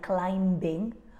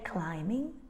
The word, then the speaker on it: climbing: letter here is B very often we have a silent B just before an m so we don't say things like climbing or thumb we say climbing and thumb now let's